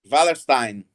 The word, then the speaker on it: Wallerstein: Joel, esse conceito de sistema mundo, baseado no conceito de economia mundo, apresentado por Immanuel Wallerstein, assim que se pronuncia? Wallerstein.